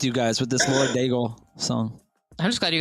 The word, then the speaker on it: Daigle: having too much fun with you guys with this Lauren Daigle song.